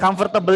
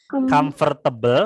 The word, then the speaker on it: comfortable: Oke, comfortable ini kelihatannya 4 suku kata, tapi sebenarnya cuma 3 ya. Jadi bacanya bukan comfortable, salah, tapi comfortable. Cuma 3 suku kata ya.